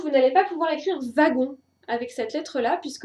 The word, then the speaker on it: wagon: Par exemple, vous n'allez pas pouvoir écrire wagon avec cette lettre-là, puisque le W de wagon se prononce V et pas W.